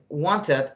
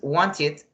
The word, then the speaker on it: wanted: When the verb finish in T or in D, for example, wanted or needed, you are going to pronunciate like an ed, okay? So in this case is wanted, but the letter I